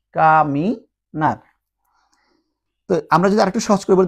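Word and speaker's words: caminar: মত উচ্চারণ হবে তাহলে কা মি আর এন এ আর নার সবসময় আর মত উচ্চারণ হবে কামিনার আমরা যদি আরেকটু সহজ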